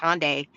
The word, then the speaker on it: Hyundai: So over the weekend, I think it was yesterday, President Trump announced that Hyundai, yes, I think it's Hyundai, it's pronounced Hyundai, they will be coming over to the U.S.